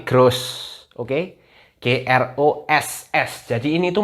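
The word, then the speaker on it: groß: nih kalau misalnya ini ini bukan grup guys bacanya bukan grup ini grows jadi GR OSS Jadi bukan grup ya tapi grose Oke GR OSS jadi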